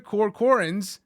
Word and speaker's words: Corcoran: Evan that's how you say his name Mr corcoran's notes first recorded into an iPhone and then